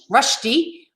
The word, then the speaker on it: Rushdy: million different ways so how do i say it right it's so rusty you got it right